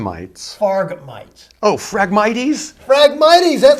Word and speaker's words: Phragmites: And that's, how about frog mites? Farm mites. Farg mites. Oh, Phragmites? Phragmites, that's how they pronounce it.